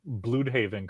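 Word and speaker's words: Blüdhaven: Plus, we say we pronounce Blude Haven correctly here.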